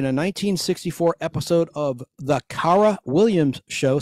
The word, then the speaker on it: Cara: She appeared in a 1964 episode of The Cara Williams Show, spelled with a C, C-A-R-A, The Cara Williams Show,